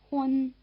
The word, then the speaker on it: Hun: Listen again and notice that they rhyme. Wen, Hun. Each of these syllables clearly has the vowel sound but the last one is spelled without an E. We've supplied the E in the version in brackets to reflect the pronunciation.